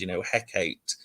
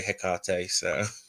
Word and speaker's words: Hekate: have people that say, like how Shakespeare said, Hecate, and I suppose there's no right or wrong way if it works for you, but I say Hekate.